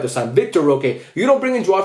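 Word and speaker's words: Vitor Roque: Victor Roque.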